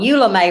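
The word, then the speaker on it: Eula Mae: We call them Eula May rolls. That's my mama's name, Eula May. I'll spell it in case I'm not saying where you understand.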